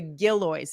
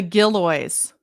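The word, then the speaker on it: Gillioz: Oh, it's the Giloys. The Gilloys. It's G I L L I O Z. Gilo. That's I know they're jingle, but apparently I just say their name wrong.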